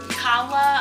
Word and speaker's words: Kala: So it says Goddess Kala, I think it's pronounced. It's not Cali for sure.